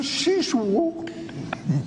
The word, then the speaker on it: Szyszlo: Y eras tú, ni siquiera sabías que tu nombre se pronunciaba así. La L se pronuncia U.